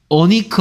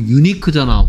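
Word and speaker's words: unique: 모음이 아니야 됐습니까 자은이야 그래서 얘는 어니크 아니고 유니크잖아 유니크 아니고 유니크죠 그래서 얘는 자음입니다 지금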